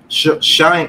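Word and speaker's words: Schoen: be talking about the new gm mr joe sean shane shane shane finally got to be able to pronounce his damn name right welcome to the new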